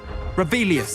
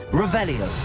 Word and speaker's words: Revelio: Rebellious. Saying it wrong. Revelio.